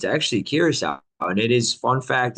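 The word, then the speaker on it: Curaçao: So, Alec, you were out in Caraco. You were chilling out there for a week as we It's missed you. pronounced Curacao. Oh, Yes, Matt. damn, I Curacao.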